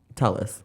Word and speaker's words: Tulliz: For me, my dream gig this week, which I've shared with you before, is pronounce the name again. Tulliz. Tulliz. I keep wanting to say Tulliz. I know everybody always does.